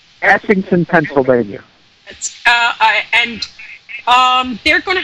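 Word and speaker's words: Essington: Ashington, Pennsylvania.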